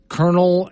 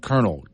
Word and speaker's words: colonel: oh Rocky and Gillette Colonel and Colonel KO I'm sorry c o l o n l yeah but it's pronounced k r n l yeah oh have you